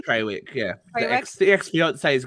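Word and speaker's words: Trawick: Well, and now the new rumor coming out was that Jason Tarwick, is that how you pronounce his name? Treywick, yeah.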